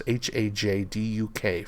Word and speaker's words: Hajduk: I'm hoping I'm pronouncing Laura's names correctly, but it's Hajduk for Laura's name there.